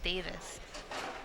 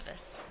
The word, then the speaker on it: Divis: Well, I thought it was Davis. No. It is Divis.